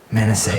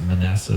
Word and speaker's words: Manasseh: Manasseh. I pronounce it Manasseh, but Manasseh, that's right.